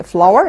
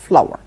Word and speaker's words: flour: خلي بالنا من نطق flour اللي هي الدقيق زي الفلاور اللي هي الورده بالظبط، لكن طبعا السبيلنج مختلف. فلاور.